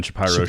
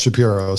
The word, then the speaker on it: Shapiro: interview with Ben shap pyro on the Ben shapy show shapir I call it shapir you call him Shapiro I call him shapy see we're different well his name is pronounced Shapiro so you can call him whatever you want